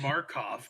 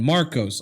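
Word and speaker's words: Markos: You had it right the first time, and you still said Markov. I don't know. I thought I said it wrong. Oh my god. Let me look at the name again. Marcos.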